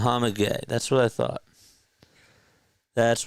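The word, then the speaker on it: Mohamed Gueye: Hawk's pronunciation guide. Should have looked at this before. Mohamd. Muhammad Gay.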